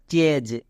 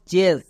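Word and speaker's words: chase: উচ্চারণ করতে হয় না তাহলে এর উচ্চারণটা কি দাঁড়ালো চেজ নট চেস একে আমরা চেস বললে ভুল উচ্চারণ হয়ে যাবে তাহলে এখান থেকে বুঝতে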